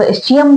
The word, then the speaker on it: ischium: इसका pronunciation different है, कुछ लोग इसको इस्कियम बोलते हैं, कुछ लोग इसको इस्चियम बोलते हैं। जैसा आपको सही लगे आप ऐसा बोल सकते हैं, दोनों ही राइट है।